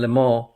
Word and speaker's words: Le Mans: they had the Grand Am and the American Le Mans.